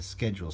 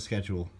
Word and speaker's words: schedule: You can set up the sensitivity for the motion detection and the schedule. So I've got the schedule, or schedule, depending on how you say it.